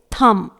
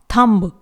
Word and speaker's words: thumb: अगला है THUMB, इट इज थम, इट इज नॉट थम्ब, ये गलत हो जाएगा।